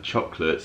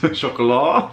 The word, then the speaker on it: Chocolat: And we have here some chocolates from Hotel Chocolat. Chocolat. If you saw the show, you'll hear that I pronounced it Chocolat and Steph pronounced it Hotel Chocolate.